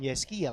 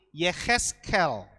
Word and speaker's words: Yehezkiel: khas yel-yel ini sebenarnya kita bacanya bukan yeskia saudara tapi Yehezkiel itu yesstyle dan kemudian